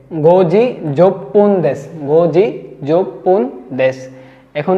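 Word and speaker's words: 十分: half যুক্ত হয়ে যাবে 10 মিনিট হয়ে যাবে যোগপন যোগপন যছন যোগপন আমরা যেকোন মিনিট ঘড়ির কাটা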